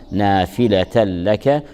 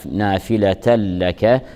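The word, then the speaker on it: نافلة لك: نقول نافله بل نقول نافله لك نون التنوين في نافله جاءت متبوعه بلام متحركه تدغم نون التنوين الساكنه باللام فتلفظ لام مشدده فنقول نافله لك ادغام بغير غنه ادغام كامل عسى عسى ان عسى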